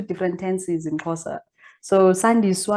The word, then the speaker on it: Sandiswa: tenses in corsa so san diego is how you say my name but most people would go saniswa and that just changes